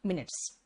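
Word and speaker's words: minutes: Spelling माइन्यूट वाला ही है विकास, याद रखना, लेकिन कहलाएगा मिनट्स, ठीक है ना।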